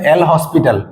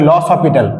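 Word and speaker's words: L'Hôpital: লস অফিটাল ঠিক আছে অনেকেই নামটা উচ্চারণ করে এল হসপিটাল ওকে এল হসপিটাল কিন্তু নামটা হবে লস হসপিটাল ঠিক আছে নাম হবে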